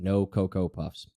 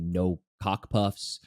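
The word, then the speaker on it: Nokokopuffs: So the old way, I would say old way, is Noko Puffs, which is Noko Puffs. So Noko Puffs has always been, how to say it. No Cocoa Puffs. Then it became one of those things where people started calling me No Cock Puffs, No OK Puffs, just all these different types of, Noko Puffs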